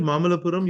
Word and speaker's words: Mamallapuram: Oh, Not only have you been to Mamalapuram, you also pronounce that perfectly, which a lot of people in yeah.